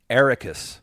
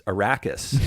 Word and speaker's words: Arrakis: I think I used to call it Atreides, Paul Atreides, and Arrakis was the planet, but it's Arrakis and Atreides, and so you kind of have to, rethink.